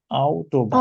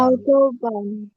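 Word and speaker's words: Autobahn: ডি অটোবান অটোবান। Otto von. অটোবান আউটোবান। আচ্ছা, এটার উচ্চারণটা হবে হচ্ছে ডি আউটোবান। আউটোবান।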